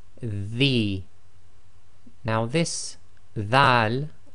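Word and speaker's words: ذال: Now this Dhal, be very careful of the pronunciation, should be the, as in the English word the, as the old English word the.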